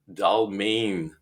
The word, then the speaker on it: Dalmijn: We have a celebrity here, Maarten Dalmijn. If I pronounced your last name correctly, I know we practiced this a few times before we got started.